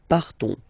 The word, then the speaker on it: partons: So classic ending ONS, you don't pronounce the S, you just have this on sound nasal. Nous partons.